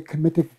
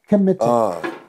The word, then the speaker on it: Kemetic: and myself, we want this to be a Kemetic book. I almost fell out. What? This woman had been, and I need to mention the Asar Aset Society, which contributed to... You said a committed book? Kemetic. Kemetic.